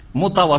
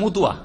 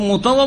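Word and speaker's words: مطوع: মোতাওয়া শব্দ শুদ্ধভাবে উচ্চারণ করতে পারে না বাঙালিরা, কি করে দেয় মুতুয়া, কি করে দেয় ওটাকে, ওদের ভাষাটা বলেন তো বাঙালিদের, হ্যাঁ মতুয়া, হ্যাঁ মোতাওয়া বলতে পারেন না, কারণ শব্দটা হচ্ছে কি মোতাওয়া।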